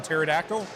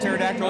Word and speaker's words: pterodactyl: So the the P and pterodactyl isn't silent. It's just that Yeah.